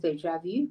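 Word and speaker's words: déjà vu: vuelo o con el de javu que se pronuncia en francés de javi que quiere decir que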